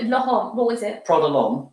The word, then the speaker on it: L'Homme: Prada L'Homme. Prada L'Homme, not L'Homme. Not L'Homme, no. You can pronounce it how you want, but L'Homme.